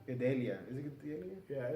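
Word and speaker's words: Gadelha: Gadelia. Is it Gadelia? Yeah, it's Gadelia. It's pronounced Gadelia.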